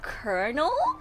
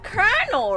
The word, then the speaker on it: colonel: pronounce this word again is it colonel it's Colonel right it's not col Colonial it's colel right if I remember correctly